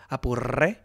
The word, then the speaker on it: Apure: Apure. Can you roll your R's? Apure.